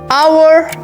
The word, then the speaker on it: hour: Et comme dernier exemple, on a hour. On doit dire an hour, car le mot hour commence par un H muet.